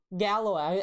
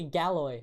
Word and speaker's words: Galois: Gallois. I always say Galloy because it's spelled Galois. And so I'm like, oh, it's Galloy.